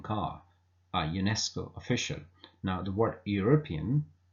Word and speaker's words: UNESCO: a European car a UNESCO official now the word European begins with e but e is not pronounced it is U which is pronounced UNESCO which is U which is pronounced so that's why despite